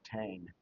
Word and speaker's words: Tain: The Ten Men of Tain.